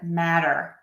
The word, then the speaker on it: matter: like cattle or metal, we are going to pronounce that T as a flap T. I think the easiest way to think about it is it's a fast D sound, super quick D sound.